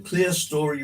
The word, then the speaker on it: clerestory: The clear story roof. It's spelt clerestory, but according to the people that know, and there, ladies and gentlemen, Lima pirated those Donald Buxton.